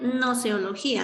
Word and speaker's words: gnoseología: estudio del conocimiento científico la gnoseología se pronuncia gnoseología lage se escribe pero no se no se pronuncia entonces nos dice qué